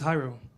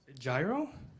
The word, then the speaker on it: Jairo: Well, when I first meet somebody, I tell them, "Hi, my name is Jairo," and they're like, "Gyro?" No, it's Jairo. Jiro?